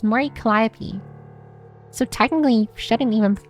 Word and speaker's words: Mori Calliope: How do you pronounce her full name? Mori Calliope. Right? No, it's Mori Calliope.